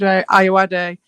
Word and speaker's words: Ayoade: Richard Ayoade.